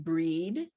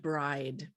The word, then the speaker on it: Brigid: is strongly associated with the goddess brigid also sometimes pronounced breed and bride the goddess bridget the